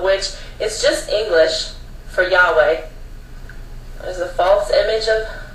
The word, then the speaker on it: Yahweh: Now, it says YHWH, which is pronounced Yahweh, it says Jehovah.